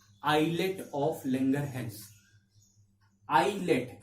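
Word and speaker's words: islets: आइलेट, इसमें एस साइलेंट होता है, इसको आइलेट्स पढ़ा जाता है।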